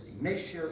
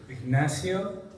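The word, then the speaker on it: Ignacio: young artist award is ignatio esto for Mama his real pronunciation of his name is ignasio ignio exactly very good the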